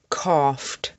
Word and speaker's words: coughed: Laughed, coughed, stuffed, fluffed. The sound at the end of these words is ft, ft.